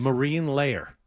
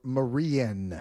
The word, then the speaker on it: Marine Layer: Marine layer. You're giving it an extra syllable. Marine layer. I thought I thought you were saying Marian.